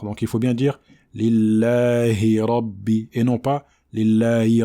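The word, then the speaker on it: لله: Donc la kasra, c'est le son i. Donc il ne faut pas dire e, comme certaines personnes le font. Lillahi, lillahi rabbi.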